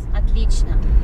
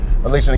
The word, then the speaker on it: отлично: Yes, отлично. Отлично. So you're good, hard to show. You're very good. Очень hard to show. And then you said отлично. Is that right? Отлично. Отлично. Okay, so three syllables again.